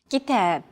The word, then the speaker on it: كتاب: كتاب كتاب. Notice that the second syllable is stressed. It's pronounced longer and louder, while the first and final syllables are shortened.